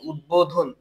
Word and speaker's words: উদ্বোধন: করে গ্রামারে আসে বেশি সন্ধি ও সমাসবদ্ধ শব্দে ব এর উচ্চারণ হয় না যেমন দেখো উদ্বোধন রসু দয় বফল আছে কিন্তু এখানে উদ্বোধন এখানে ব এর উচ্চারণ